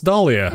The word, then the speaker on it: Dahlia: them nigh unpronounceable names this one is pronounceable it's dahlia yeah dahlia os